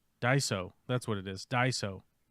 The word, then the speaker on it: Daiso: In Japanese it is said as Daiso.